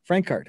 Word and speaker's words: Francart: Francart. Okay. Yes. Not the yes. Franck, but Frank. Francart.